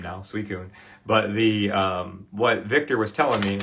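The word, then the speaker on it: Suicune: Suicun.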